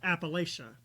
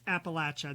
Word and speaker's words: Appalachia: I always pronounced pronounced it Appalachia. She was so sweet and she she didn't never say anything, but after that she was like, "Honey, it's Appalachia. There's a latch in the middle."